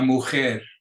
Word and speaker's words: mujer: El lápiz, el lápiz, la lección, la maleta means a suitcase, la mano, your hand, el mapa, la mujer, again that J is guttural, la mujer, la nacionalidad,